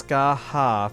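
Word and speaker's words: Scáthach: I think it's Skaha from what it sounded like in the trailer. Yeah, the T in the middle is not pronounced. Although, I guess I was saying Skahach.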